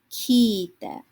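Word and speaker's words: 聞いて: So we have kikimasu, kiite. Now notice that long vowel sound, ki-i-te. You want to make sure that you are writing down and carefully pronouncing all of the hiragana in your words.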